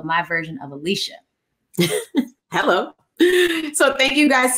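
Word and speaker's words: Alechia: And Alicia, where can stay connected with you? All over Beyonce's internet at Alicia. Y'all know it's spelled special, A-L-E-C-H-I-A, but don't worry.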